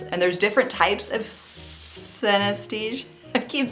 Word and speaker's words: synesthesia: but she's experiencing Cynthia cenistia I need to look that up because I don't think I'm pronouncing it correctly synesthesia synesthesia yeah I was definitely saying that wrong she's she has what